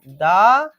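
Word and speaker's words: the: দি এন্ড, নট দা এন্ড। এখানেও ব্যাপার আছে, এর আগেও বলেছি আমি, প্রথমে যদি ভাওয়েল থাকে উচ্চারণটা দি হবে, আর যদি প্রথমে কনসোনেন্ট থাকে তাহলে দা হবে।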